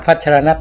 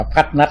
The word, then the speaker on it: พัชรณัฐ: พัชรณัฐ อ่าน นะ ครับ อ่าน จริง ๆ ต้อง ต้อง อ่าน พัชร นัส นะ ครับ ครับ ไม่ อ่าน ว่า พั นั อะไร นะ อ่าน ให้ ถูก จริง ต้อง พัชร นัส ชนั พัชระ เนี่ย ครับ